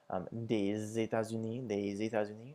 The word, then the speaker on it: États-Unis: And the S makes a Z sound when it comes before vowels, just as the O with the X. So des États-Unis, or des Pays-Bas, so from the United States or from the Netherlands.